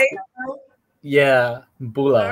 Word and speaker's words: Bula: Yeah, Bula.